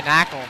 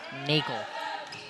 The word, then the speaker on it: Nakel: And up and under by Knackle. Excuse me, Chris Nakel. I think I've pronounced his name wrong more times than I can count, but it is Chris Nakel.